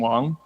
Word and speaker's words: Wang: to be a Wang that's the American Way of pronouncing Wang that the early word processor was a Wang and they called it